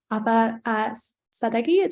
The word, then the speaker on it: Ahva Sadeghi: And we also have Ahva Sadeghi. Did I pronounce that correctly?